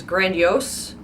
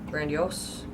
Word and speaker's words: grandiose: number seven which is grandiose grandiose grandiose grandiose okay in my head this is Grandma I don't know why I that's not even how the letters are but it's still grandma there's no I unlike